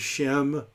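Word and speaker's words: שֵׁם: to this one uh so uh shame i would say but everybody pronounces shem it means name i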